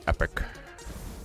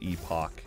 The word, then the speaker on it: Epoch: last epoch or as i've been corrected flashed epic slashed epic it's wrong it's not how you pronounce it it is epoch indeed i asked the uh makers of the